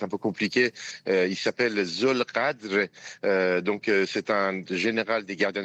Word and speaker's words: Zolghadr: Son nom, la prononciation de son nom ça est un peu compliqué. Il s'appelle Zolgadr.